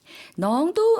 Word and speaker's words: น้อง: 이번엔 남자 발음으로 다시 들어볼게요. น้อง 넝도 아까 말씀드렸던 피와 마찬가지겠죠.